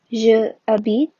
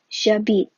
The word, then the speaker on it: j'habite: Instead of saying je habite, it's pronounced j'habite, and it gives a much smoother sound.